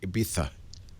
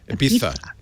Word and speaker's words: Ibiza: It's Ibiza. And although my Ibiza's son insists on pronouncing it Ibiza. Oh, is that right? Is that the right way? Yes. Okay. Ibiza.